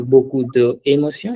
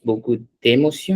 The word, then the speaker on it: beaucoup d'émotion: It's not beaucoup de émotion, it's beaucoup d'émotion, exact. Okay, whenever there's an Beaucoup. apostrophe, Hmm. we read those words together.